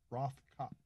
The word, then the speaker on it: Rothkopf: Rothkopf. Is he saying it right, David? Sounds good to me. All right. The F at the end is silent? Yes. Well, not really, but it doesn't matter.